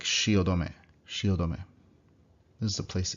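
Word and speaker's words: 汐留: So you have to pronounce it in the 4 syllables. Shi, o, do, me. So it's like shiodome, shiodome.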